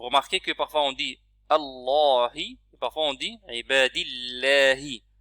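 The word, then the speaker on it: ألا: Ashhadu alla. Donc il est préférable de dire alla. Ne pas prononcer noun, ça va directement sur lam. C'est comme ça que les Arabes prononcent en réalité.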